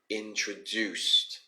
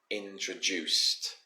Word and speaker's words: introduced: like that now to to pronounce this one in the past tense to sound more native we say introduced introduced okay introduced sounds like you're saying juice knowing just at the end all right next we